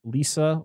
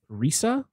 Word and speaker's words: Risa: Tomoko Yamaguchi as Lisa, or Risa, as of course they would pronounce it in Japanese.